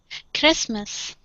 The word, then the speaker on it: Christmas: one here is christmas the tea and christmas is silent we don't pronounce it christmas christmas very good all right